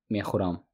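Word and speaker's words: мехӯрам: Man mekhuram. Man mekhuram. Man mekhuram. And even if we write with ö, mekhuram, we pronounce it like u, mekhuram.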